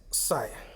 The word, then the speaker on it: psi: denote by a greek letter psi which is pronounced as psi electric flux definition the total number of electric